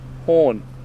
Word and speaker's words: Horn: No, Horn. I'll look it up soon. Thanks. Thanks for going all this effort. You can get so lost around here. Yeah, it's spelled H-O-R-N, like a horn.